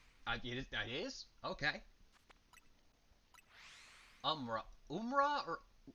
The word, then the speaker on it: Umrah: You've told me it's pronounced exactly the way it looks. Now tell me I'm telling saying it wrong. I that is okay. Umra Umra or Umrah.